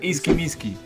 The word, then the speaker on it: Iskimiski: Se pronuncia Iskimiski. Iskimiski.